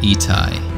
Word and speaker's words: Itai: My name is Itai, and I'm a modular synth artist based in upstate New York. It's pronounced Itai. It's basically my name with some additional letters.